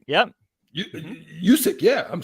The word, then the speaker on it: Juszczyk: Juszczyk, yep. Juszczyk, yeah.